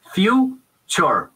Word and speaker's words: future: Entonces la clave es pronunciarlo como con una che y olvidarnos de la T. Entonces, en vez de decir future o future, future.